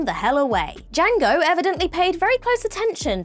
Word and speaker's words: Django: Fox's Jango tellingly when D Jango tells him that the D in his name is silent he retorts with I